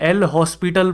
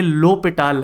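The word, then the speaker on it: L'Hôpital: आप में से कई लोग इसे एल हॉस्पिटल पढ़ते होंगे। ये हॉस्पिटल नहीं है। यह लो पिटाल है। ठीक है? इसको इस तरीके से प्रोनाउंस किया जाता है। तो दया कीजिए और ऐसे प्रोनाउंस कीजिए।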